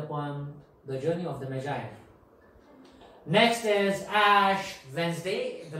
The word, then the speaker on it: Magi: This is not Maggie, very very popular one that some people eat. This is not Maggie. The pronunciation of this word is Magi.